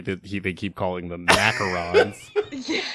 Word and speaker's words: macaron: Let's just move forward, assuming the type of cookie that this is called a macaroon. Macaron.